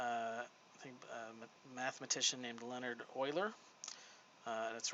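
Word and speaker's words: Euler: think mathematician named Leonard Oiler uh that's right it is pronounced Oiler and uh this is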